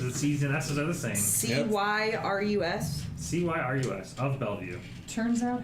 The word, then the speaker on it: Cyrus: season that's another thing c-y-r-u-s c-y-r-u-s of Bellevue turns out how you spell it doesn't doesn't actually matter like syrup but not yep Cyrus of Bellevue